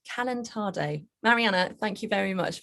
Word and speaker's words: calentado: So we've got the dish pronounced from Colombia. It's called calentado.